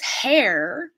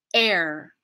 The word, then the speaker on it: heir: the outside air so in order to not pronounce it as hair we're going to use this as like an invisible consonant starting place air air I'm not just